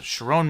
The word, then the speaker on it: Sherrone: Uh Chiron Moore, is that how you pronounce Chiron?